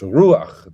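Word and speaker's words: רוּחַ: So it's ruach. The accent is on the U, and it's just a short A, and the A is written to the right of the chet, not straight underneath it.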